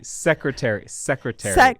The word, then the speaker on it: secretary: Secretary. Maybe the first secretary. Treasurer. I don't know. Maybe the first syllables. Secretary. You're right. It's hard even. Treasurer. As a So speaker, first first syllable for both.